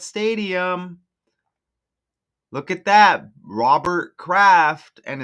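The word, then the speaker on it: Kraft: I think of Bob Craft. And craft is kind of like aircraft, like spacecraft. You know what I'm saying? But it's just spelled with the K instead of a C, right?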